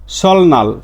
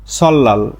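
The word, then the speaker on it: 설날: ছুললমঙ্গি আরেকটা উদাহরণ দেখি আমরা সবাই এভাবে এটা উচ্চারণ করি সলনাল সলনাল কিন্তু না এর সঠিক উচ্চারণ হচ্ছে সললাল সললাল কারণ বাচছি মেরিউল আছে তাহলে এটার উচ্চারণ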